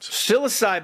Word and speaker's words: psilocybe: So psilocybe mushrooms. Does that sound right, Doug? Psilocybe. The P is silent. So it's like the H in Dr. It's like the H in Dr. Behat's name. It's silent.